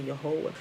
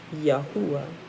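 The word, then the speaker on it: Yahuah: say you're whole but that's using like one o sound it's not really your whole it's yahuwah right you know because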